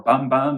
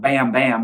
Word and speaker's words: Bam Bam: She doesn't really pronounce the A sound. It sounds a little more like bum bum bum bum bum. It's not Bam Bam, which is what I thought it would be, with Ed Sheeran, which